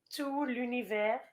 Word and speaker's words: Tout l'Univers: this well first of all the title is pronounced tu lu universe and i preferred his song from last year